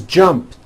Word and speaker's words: jumped: So jump becomes jumped with a T sound at the end. Jumped. Of course, the word is spelled with an ed ending. It's just pronounced as a T. Jumped, like that.